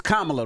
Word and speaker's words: Kamala: used to having her name mispronounced. It's Kamala, though, guys. Kamala.